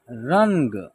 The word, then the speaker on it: रंग: तो देखिए यहाँ लिखा है र के ऊपर क्या है, अन की मात्रा का प्रयोग हुआ है, तो यहाँ इसका उच्चारण होगा रन ग। एक साथ उच्चारण करेंगे रंग, ठीक है।